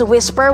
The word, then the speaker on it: whisper: some say whisper but the most commonly used pronunciation is whisper with silent h whisper boulong the children